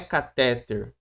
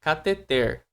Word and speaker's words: cateter: a correta acentuação da palavra não é não é cateter, não é eh não é catéter, é cateter. Então não, o o acento não tá aqui, ó. Se tivesse aqui, ela ela ia ser até acentuada, mas não tem. O o tônico dela é na oxítona. Então, cateter, essa é a correta pronúncia da palavra.